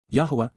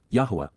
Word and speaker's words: Yahweh: is one God and he has one name Yahweh Yahweh the proper pronunciation of the name of eloah God as